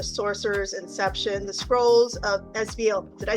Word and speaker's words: Esveil: And we're here to talk about his book, The Sorcerers Inception: The Scrolls of Esveil.